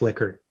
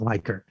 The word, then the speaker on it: Likert: even though it's l-i-k-e-r-t it's liquor and i'll get into a fist fight with you it's not leica um that was this